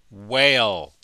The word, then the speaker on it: whale: whale in the ocean the H is silent we don't pronounce it whale what's this animal you